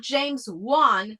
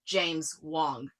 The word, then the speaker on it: James Wong: No, not James Juan. Not the guy that directed Saw or The Conjuring or Dead Silence. It's pronounced James Wong.